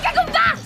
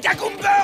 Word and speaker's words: Gagumber: Tu entends, Gagumba? Ça, c'est une réplique de méchant classique, je te signale, mais même fou! Et d'abord, moi, c'est Gagumber, ok? Beurre! Prononce mon nom comme il faut!